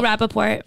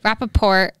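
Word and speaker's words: Rapaport: used in uh michael how do you say this last name michael rappaport rappaport exchange okay so baby yeah literally wrap a poll um okay so basically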